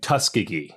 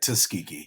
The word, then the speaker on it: Tuskegee: And you and you but you chose to start in Tuskegee. Is that am I saying it right? That's right. Tuskegee.